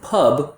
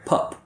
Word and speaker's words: pub: And the mistake that a lot of students make is that instead of producing a voiced B, they produce an unvoiced sound which sounds like a P. So instead of pub, we hear pup, peace.